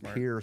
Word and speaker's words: Pierre: Um I'm from I'm from Pier, South Dakota.